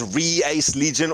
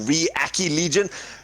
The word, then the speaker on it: RE ACCE Legion: it sorry ace Legion there's a couple of ways of pronouncing that's it's otherwise known as reais Legion or react E Legion pronounce it how you want to show off their